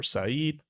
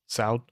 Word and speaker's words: Saud: Is it Saud or Saeed? Uh oh. Saud? Okay, perfect.